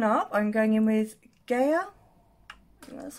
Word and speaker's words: Gaia: And then to deepen up, I'm going in with Gaia.